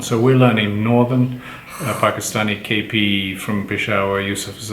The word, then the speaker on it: Pakistan: say i'm going to pakistan and they don't use the long a it's kind of insulting how do you say pakistan pakistan say again pakistan ah listen to the long is there very good oh so